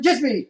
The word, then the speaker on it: Djismie: He is Erik Van Djismie, and the D is silent.